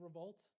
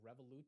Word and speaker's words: Revolut: Isn't it Revolt? Was it Revolut or something? I don't know, guys. I don't know. But to be honest, doesn't matter. Everything's down. Does it really matter how we're saying the name of these companies anymore? Nebius is down 2. How's Nasdaq? Ren's down 4. Revolut, that's how you say it?